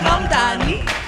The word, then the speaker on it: Mamdani: The name is Mamdani. M-A-M-D-A-N-I.